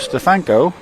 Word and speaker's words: Stefanko: And I did get a call today from an old friend who told me that the correct pronunciation is Stefanko.